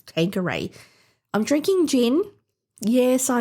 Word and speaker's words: Tanqueray: I think I said Talkeray, and my husband's like, why are you saying that? Why are you pronouncing it Talkeray? It's Tanqueray.